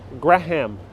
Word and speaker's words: Graham Avenue: now we're intersecting with graham avenue of course they all be very proper people who are pronouncing gram but the real locals the new eurekans that lived here they call it graham graham it's also known as